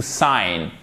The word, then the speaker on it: sign: Donc ici, vous ne prononcez pas le G. Ça se dit to sign.